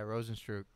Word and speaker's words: Rozenstruik: Yeah, Rozenstruik.